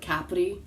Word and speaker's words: Capri: on the island of Capri. Many call it Capri, they call it Capri. Like if you live in Italy, the pronunciation is Capri.